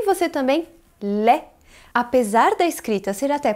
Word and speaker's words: lait: Pronuncie você também lait. Apesar da escrita ser até parecida com a do português, a pronúncia é bem diferente. Esse AI tem som de E e não podemos pronunciar esse T no final, porque a regra diz